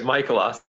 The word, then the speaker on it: Mikulasik: Am I pronouncing your name properly? Actually, it's Mikulasik. Mikulasik. Some people pronounce Mikulasik, some people pronounce Mikulasik, but I go by Mikulasik.